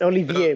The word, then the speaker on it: Olivier: It's Olivier, but it doesn't matter.